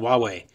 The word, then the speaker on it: Huawei: No, just spell it easy. W-A-W-A-Y if you want to be called Huawei.